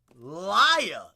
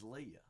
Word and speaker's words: Lia: Leia. Wait, I definitely butchered that. Is it Leia? Leia? Leia? Leah. Is it Leah? It's Leah.